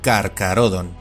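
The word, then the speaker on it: Carcharodon: As por ejemplo, este nombre se pronuncia y castellaniza como Carcarodon, mientras que este otro se pronuncia y castellaniza como quiróptera y sus miembros son llamados quirópteros.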